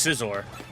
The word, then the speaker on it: Scizor: Pronounce it X and then scissor. Yeah, it's just scissor.